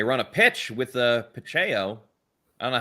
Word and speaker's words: Pacheco: that because I know I grew up with two pachecos and it was spelled just like that but we don't like pronouncing anybody's name correct so Pacheco Pacheco Pacheco Kelsey's back on the